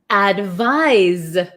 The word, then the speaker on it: advise: then here we have advise advise so it's so tricky right advice has an S sound but it's spelled with a c advise has a z sound but spelled with an s h why is English